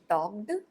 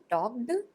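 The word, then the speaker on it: talked: टॉक टू form है टक्ड v3 form है टक्ड टॉ केड नहीं होगा टॉड व फ फॉर्म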